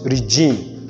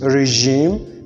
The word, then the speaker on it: regime: regime garage and stage not regime not garage no stage it is regime garage and stage these are the representation